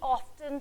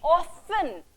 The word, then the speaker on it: often: fact is like we often tend to be emotionally weak when we are away from our close ones and we often see once i said often then i said often both pronunciations are correct children and we often